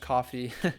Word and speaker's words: Ko-fi: I guess it's pronounced coffee.